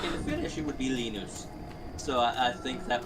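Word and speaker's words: Linus: you know, because like uh in America it's Lionus, in Britain it's Lennis. And he goes, "Well, if you were to say my name in Finnish, it would be Lenus."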